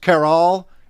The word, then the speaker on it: Caral: Have you been to, I think it's pronounced Caral in Peru, that looks to be like an Anasazi site?